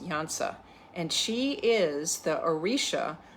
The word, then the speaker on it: Iansa: That it's Iansa, pronounced Iansa, and she is the Orisha of storms and thunder and lightning and literally the winds of change.